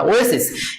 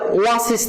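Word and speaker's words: oasis: ওয়েসিস এখানে ও এর উচ্চারণ ওয়ে, ওয়ে মানে ও এর মতো। এখানে কিসের মতো উচ্চারণ হচ্ছে বলেন? ওয়েসিস মরুদ্যান। সো এখানে আনসারটা হবে এ নাম্বার। আচ্ছা 105 এর আনসারটা আমি কি বললাম? ওয়েসিস, তাই না? সরি 105 এর আনসার তো এ নাম্বার হবে, অর্থাৎ এন হবে। 105 এর आंसर n হবে, কারণ আমরা বলছিলাম যে এটা ওয়াসিস না বরং ওয়েসিস।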